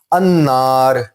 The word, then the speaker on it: النار: اب نار کا جو نون ہے یہ کیونکہ حروف شمسی ہے اس لیے نون پہ شد لگ جائے گی. آپ نے نوٹ کیا کہ یہاں پہ لام پہ علامت سکون بھی نہیں آئی, نون پہ شد بھی لگ گئی. النار, اور لام جو ہے وہ بولا بھی نہیں گیا.